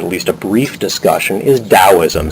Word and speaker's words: Taoism: a brief discussion is taoism sometimes spelled with a t rather than a d as you see it